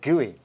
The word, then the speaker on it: GUI: the graphical user interface or GUI pronounced gooey what's the world coming